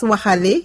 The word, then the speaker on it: Waxaale: On le prononce Waxale et on le traduit par marchandage.